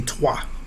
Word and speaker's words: trois: So some of those vowels, like the I, so the way it's spelled for 3, for in the French language is T-R-O-I. So it would be essentially the O and the I are silent, right?